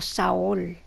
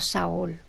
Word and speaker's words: Saul: biblia en inglés que saulo se pronuncia como saúl para los que tienen